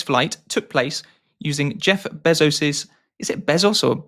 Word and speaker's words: Bezos: So also in April, an all female space flight took place using Jeff Bezos's is it Bezos or how do you say that? Jeff Bezos.